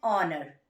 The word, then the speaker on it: honor: H is there. And honor. Because we are pronouncing it with O.